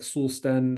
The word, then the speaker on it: Solsten: like it, I mean, I'm pronouncing it in an English way, but it's, if you're from Sweden and you say like Solsten, that's kind of more how they would say it.